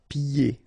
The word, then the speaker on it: pieds: Pieds. Okay, so you don't hear the D.